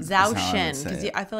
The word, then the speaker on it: Zhou Shen: This is memory, help me with this pronunciation again. Zhou Shen. Zhou Shen, because I feel like you said it very well.